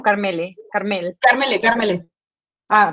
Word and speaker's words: Karmele: Carmele, Ah, con E. pronunciándola E.